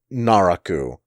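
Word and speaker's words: 奈落: buddhist term for it the pronunciation of the buddhist term in japanese is naraku and so that's what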